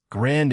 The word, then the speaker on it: grand: Grand ends in a nasal vowel, not a d.